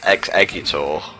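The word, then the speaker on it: Exeggutor: shitty to me mate it's pronounced X eggor oh well I'm sorry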